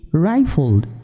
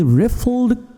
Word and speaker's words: riffled: was okay contented he rifled uh you can say he uh no this will be the pronunciation was a ripple not a rifle sorry he riffled curiously rifle spinning rifle